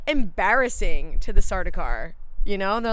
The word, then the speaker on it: Sardaukar: And they make a point to say that, like, when I'm gonna pronounce this wrong, the Sardaukar? Mm-hmm. Cute. It just sounds like I'm choking when I say that. It does. Sardaukar.